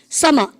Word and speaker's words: summer: summer M이 두 번 겹치면 한 번 발음 아시죠?